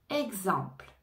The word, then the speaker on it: exemple: énergie exemple exemple exemple ici on ne prononce pas le E final exemple on entend le P et le l exemple exemple expérience expérience expérience